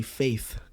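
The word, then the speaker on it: Feid: funny so like um fade it's spelled f-e-i-d but it's supposed to be faith i'm weak now i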